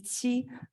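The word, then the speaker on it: 漆: And 2 commonly used terms to describe Asian lacquer, one is qi, also that's how we pronounce it in Chinese.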